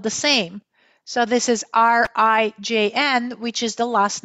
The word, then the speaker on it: Rijn: So this is RIJN, which is the last name of, drumroll, Jeffrey?